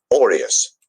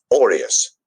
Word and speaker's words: aureus: When you just talk about it as a noun, so you're just talking about the coin, it is said like this. Aureus, aureus.